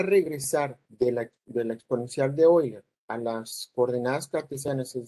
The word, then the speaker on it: Euler: Bueno, y la pronunciación ya les había comentado que se pronuncia Euler.